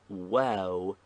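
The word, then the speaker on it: واو: points written below it pronounce the name well like ow in house five are there only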